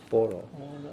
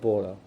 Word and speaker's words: 般若: In Chinese, it's pronounced as 般类. 般若. Okay, 般若.